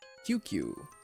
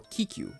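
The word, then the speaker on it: ききゅう: QQ. QQ. It's the extended U sound. Or no, Kiku.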